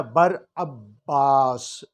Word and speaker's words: Barabbas: کا ذکر ملتا ہے۔ اس کا یونانی تلفظ جو ہے وہ ہے براباس۔ یہ عبرانی نہیں بلکہ